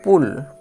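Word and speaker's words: pull: যদি পরপর থাকে একবারই উচ্চারণ করলেই হয়ে যাবে।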